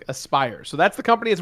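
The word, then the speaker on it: Aspyr: so um aspire sorry thank you uh spider-ditto pronounced aspire so that's the company that's working on it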